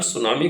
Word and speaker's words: tsunami: the term सुनामी comes from the word सू, यानी T silent है, meaning harbour, यानी coastal